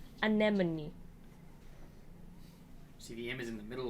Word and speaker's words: Anemone: foreign an enemy yeah I've been saying erimone I don't know it was Anatomy anemone CDM is in the